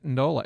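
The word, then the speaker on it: Natadola: It's like Nandi, you pronounce a second N, I think. Okay. It's okay. Do you? Apparently it's Natandola.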